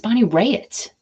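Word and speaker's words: Bonnie Raitt: i say bonnie rayette how do you say bonnie rant bonnie rate bonnie rod it's bonnie rayette that's how you say it bonnie rayette is how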